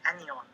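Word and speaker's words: anyon: So, sorry, Robert, just to add, if you want to look for it, the term you should look is anion.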